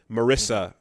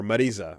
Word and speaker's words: Marisa: Marissa plays that role in this game because or Marisa as she's pronounced.